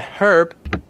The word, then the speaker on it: herb: Actually, herb is used widely used in the UK and herb. Herb just herb without h sound.